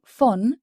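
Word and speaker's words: von: français vcommen bienvenue vcommen quant au V il se prononce comme un F par exemple le mot F qui veut dire de s'écrit V o n F de la plupart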